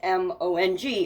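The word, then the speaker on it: Hmong: Joel was Hong h m o n g another thing I can't pronounce um and it was released in 1992 maybe that's just Mong maybe the H is silent um and so later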